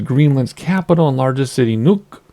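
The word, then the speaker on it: Nuuk: capital and largest city nuke actually I've heard that pronounce and it's not really nuke it's like Nuke or I can't I'm not going to pretend which lies on Greenland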